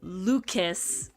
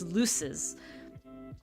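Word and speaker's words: luces: l u CES lues it's not lucus it's lues so it's like a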